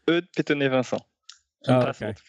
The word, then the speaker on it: Eudes Petonnet-Vincent: Eudes Petonnet-Vincent. Yeah, pretty close. It's Eudes Petonnet-Vincent. Impossible okay. to pronounce for English-speaking people.